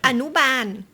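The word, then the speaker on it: อนุบาล: And how do you pronounce it in Thai? Anuban.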